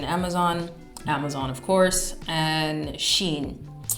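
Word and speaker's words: Shein: Amazon of course and Sheen or Shin I think that's the correct pronunciation shin next topic relationships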